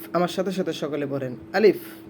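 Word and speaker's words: ألف: আলিফ, আলিফ, আমার সাথে সাথে সকলে পড়েন আলিফ। আমাদের মধ্যে অনেকেই কিন্তু আলিফ না পড়ে আলিফ পড়ি আমরা, অর্থাৎ শেষে আমরা প পড়ি। প হবে না, এটা হবে ফ।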